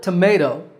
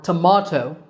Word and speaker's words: tomato: Accents in the word tomato American or tomato British the second syllable is the one that's stressed ma however there are